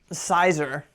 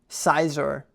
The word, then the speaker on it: Scizor: it's very simple, but I heard someone say, Scizor, and it really bothered me. Scizor. I mean Scizor. Yeah, but they said Scizor.